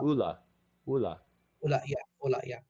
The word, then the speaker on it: Ola: OLA, Ola. Yeah, Ooh, and Ola, but it's pronounced Ola, Ula.